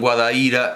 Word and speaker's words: Guadaíra: de su propia localidad porque decían guadaíra cuando todo el mundo decía guadaíra guadaíra entendiendo que sería no sé un dual un diminutivo no no sé pero resulta que la pronunciación guadaíra es la etimológicamente correcta y hay que tener